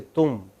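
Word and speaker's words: तुम: are atrocious in hindi they could not say tum they said tom okay they could not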